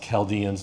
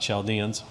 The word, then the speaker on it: Chaldeans: I don't know why it's spelled with a C-H when a K would have sufficed, but a lot of people don't know that it's pronounced Chaldeans, not Chaldeans.